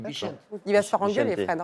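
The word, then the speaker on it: Bixente: On dit Bichente.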